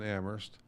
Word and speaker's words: Amherst: The 5 is silent, like the H in Amherst.